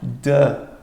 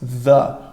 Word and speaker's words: the: E é muito importante prestarmos atenção na pronúncia apropriada disso, porque você quer falar não é the, mas the, com a língua entre os dentes, com você soprando para fora.